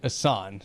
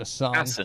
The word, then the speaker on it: Assen: for 34 laps around TT circuit Assan right that's how you pronounce it a song yeah and if the